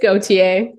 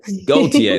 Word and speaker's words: Gauthier: It's Gauthier. Gauthier. There you go. Gauthier, yeah. I wrote it down phonetically and still tripped up on it.